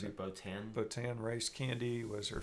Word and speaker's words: Botan: How do you pronounce it? Botan.